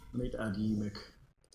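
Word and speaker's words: Yeemik: I need to add Ymik. Ymik. That's how it's pronounced.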